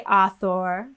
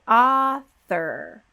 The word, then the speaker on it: author: the vowel goes away we don't say author or author we say author so the tongue is between the teeth for the th and then we pop back for the r get our tongue tense right away at the very back of the mouth for that er sound author author so we go straight from th into r now why is it